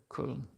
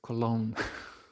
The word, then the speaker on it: Köln: Köln. Köln. Köln. Or the English butchering of it, Cologne.